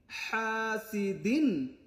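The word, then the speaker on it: حَاسِدٍ: শাররি হা আলিফ জবর হা গলার মাঝখান থেকে হা সিন জেরিহাসিরিহা দাল দুই জের দিন হাসিদিন এখানে উচ্চারণটা হবে এখান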